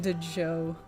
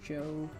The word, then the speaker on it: Djo: I called them Dejo. Yeah, I know. I was it's like DJO, Dejo. But I think I saw like an interview where he says it's pronounced Joe. So I guess like we're all wrong.